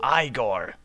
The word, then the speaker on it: Igor: are final thank you Igor have this token of my eternal gratitude it's pronounced igore Rich gifts waxs poor